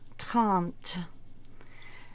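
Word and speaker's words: trente: and then we get to 30 which is tant 4:31 it's just the same as 21 you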